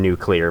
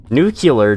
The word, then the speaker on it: nuclear: It's just I pre I prefer the pronunciation nuclear myself. New killer just never sounded that good to me.